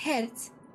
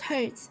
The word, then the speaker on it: Hertz: Well, then it's pronounced Herz, not Herz. Her if it's really a German name.